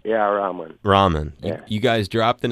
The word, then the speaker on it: Rahman: Stone Dave Stewart ar Rahman and hopefully I'm pronouncing his last name right yeah ramen yeah you guys dropped an album in 2011